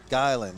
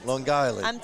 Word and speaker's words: Long Island: over in Long Island Long Island guyland Long Island gotta say it right Long Island I've been in Texas too long yeah it's too long